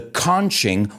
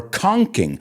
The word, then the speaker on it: conching: Well, he invented what is called the conching or conking. I've actually heard it pronounced both ways.